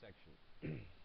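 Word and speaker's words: §: Okay, so just a matter of note, this little S with a circle in it, that's pronounced section.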